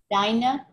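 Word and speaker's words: דײַנע: Deine? Deine. Yep. A guten Shabbos dir und deine. To you and yours. Mm-hmm. And deine is the plural. It has that ein, that eh sound at the end, because it's presumed to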